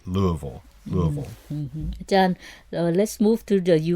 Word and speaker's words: Louisville: And Louisville, Colorado, Louisville, Georgia, Louisville, Ohio, but Louisville, Kentucky, which they actually pronounce it more like Louisville.